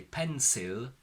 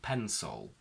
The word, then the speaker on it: pencil: We don't say pencil, we say pencil.